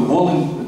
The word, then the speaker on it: Wołyń: Єдине, що українською це «Волинь» жіночого роду з наголосом на другий склад, польською «Волинь» чоловічого роду з наголосом на перший склад.